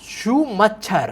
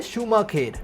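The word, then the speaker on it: Schumacher: Can read she says शूमच्छर। I know ये Korean मानवा है बट ये जो वर्ड है एक्चुअली जर्मन सरनेम है, जिसकी प्रोनाउंसिएशन है शूमाखेर।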